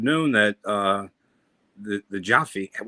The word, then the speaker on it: Jefe: uh the the Jaffe is it Jaffe or Jefe how do they say it Shane it's heavy it's spelled j-e-f-e means boss in Spanish yeah but it's spelled Jefe or jafe that's why I kept calling it saying it the wrong way I need to learn